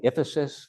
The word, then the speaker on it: IFASIS: We have a tool, it's a team-based tool, happy to share it, called the IFASIS, rhymes with Sisyphus for a reason, because